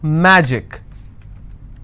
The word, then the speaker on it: magic: will stress on track magic i will stress on ma picnic i will stress